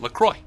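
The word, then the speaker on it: LaCroix: talked about laqua but if you go to the lroy website they actually say say you pronounce it lroy wait lroy La what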